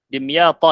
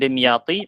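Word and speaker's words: دمياط: Dimyata ini ya. Ini salah yang versi terjemah. Bukan dimyati, bacanya dimyata. Ini nama daerah juga di Mesir.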